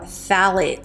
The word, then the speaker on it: phthalates: So toxic ingredient number 3 are phthalates. So this is spelled really, really weird, and this is not going to be on the label, but it's spelled PHTHALATES, called phthalates.